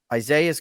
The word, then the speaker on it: Isaias: Isaias, and that's for those of you who don't know, it's ISAIS and then, just No.